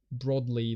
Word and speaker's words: broadly: It's like, it seems very much not conducive to actually finding out anything, really, because broadly is pronounced broadly like rod, not broad like road.